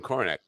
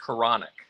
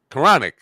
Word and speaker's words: Kornick: Kornick. first of all, am I pronouncing your name right? You are definitely not. It's Koronic. Koronic.